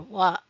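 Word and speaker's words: は: Ha normally ha or wa but pronounced wa when marking the topic.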